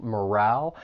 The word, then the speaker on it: morale: Just know that the stress is on that second syllable, morale. And don't be fooled by that E at the end. It's not a long vowel sound, but a short vowel sound, morale.